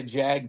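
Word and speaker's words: Jagdterrier: I think I would go with a Yogg Terrier, or I think, and some people say Jag Terrier. I think that's the Americanized, but I think it's actually pronounced Yogg.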